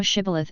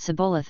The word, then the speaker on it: Shibboleth: If he said, Nay, then said they unto him, Say now Shibboleth, and he said Sibboleth, for he could not frame to pronounce it right.